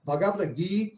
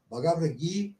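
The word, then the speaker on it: Bhagavad Gītā: Então isso significa que o I e o A devem ser pronunciado de maneira alongada, extensa, né? Então é bagavra, tá? Essa essa pronúncia é correta de acordo com o Sân. Bagavra GUI, tá?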